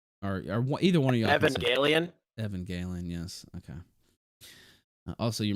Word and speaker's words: Evangelion: I'm not going to pronounce it because I'll mess it up. Or either one of y'all. Evangelion.